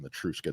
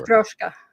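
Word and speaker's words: матрёшка: I'm saying it wrong. I don't know what the word is in Russian, but they're called Matruska dolls for sure. Matroska. Matroska. That's how you said.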